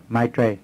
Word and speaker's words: Maitreya: Maitreya.